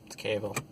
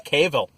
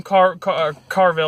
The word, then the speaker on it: Cavill: Someone pronounces him Carville or Cavill or something like that every time I watch reviews with anything in him. So. Well, there is no R, so.